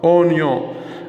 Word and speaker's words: oignon: Donc nous avons poivron, carotte, oignon. هنا le I منقروش و le G منقروش.